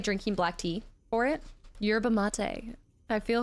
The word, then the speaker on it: yerba mate: I think it's pronounced like latte. Mate. Oh, okay, yerba mate. I can see that. That's a great way to put that. Accent on the E.